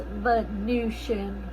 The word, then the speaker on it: Venusian: It's spelled like it's Venus, like a venison, a deer. Venison, but it's actually pronounced Venusian.